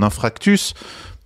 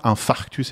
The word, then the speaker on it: infarctus: on commence par mon infractus je commencer aussi par celui-là bêtement parce que tu fais dessins et scénario infractus puisque même ton ton médecin n'arrive pas à prononcer le le le bon terme infarctus évidemment le livre commence